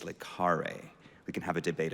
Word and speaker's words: le Carré: It is not le Carré, it's le Carré.